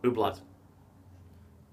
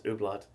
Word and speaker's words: Hublot: Ooblat. I'm going to guess that T is silent. I thought it's Ooblat.